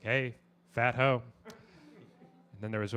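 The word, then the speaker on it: Phat Ho: However, However, he chose to pronounce it fat hoe.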